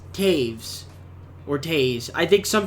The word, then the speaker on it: Toews: See, I've been saying Toews the entire time, but it's pronounced Taves or Taves.